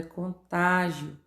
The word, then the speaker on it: contágio: Letra C, a palavra é contágio. A sílaba tônica é o tá.